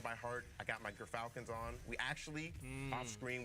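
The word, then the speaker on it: Gyrfalcon's: I got my Gerfalcons on. We actually, off screen, we're figuring out how it's pronounced. But Gerfalcons, everyone, so anyone who mispronounces it, that's how you say it.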